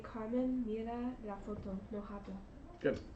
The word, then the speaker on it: habla: El abuelo de Carmen mira la foto, no habla. Good. And the H is silent.